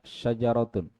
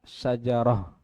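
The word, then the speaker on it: شجرة: ini kalau bersambung ya kalau tidak bersambung misalnya syajaratun atau ya sajaratun Nah ini yang kalau kita wakaf kita berhenti baca ha syajarah ya atau misalnya sayyaratun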